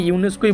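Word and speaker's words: UNESCO: আমি ইউনেস্কোই বলি কারণ এটা উচ্চারণটা এটাই হয়।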